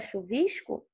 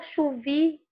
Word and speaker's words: chuvisco: Olha, não falo chuvico. O som do S aparece, eu falo chuvisco. Nossa pronúncia, né, da carioquês, digamos assim, fluminense, a gente fala o S, nesse caso aqui, até chiando. Paulistas, por exemplo, falam o S mais menor, né? Sem esse chiado. Eles falam chuvisco e nós falamos chuvisco.